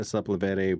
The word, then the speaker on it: Sepulveda: I was actually walking down Sepulveda, is how you say it, Sepulveda Boulevard.